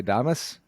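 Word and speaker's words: Adames: at third and i'm going to get this name wrong willie adamus thomas is right that's right that's right yep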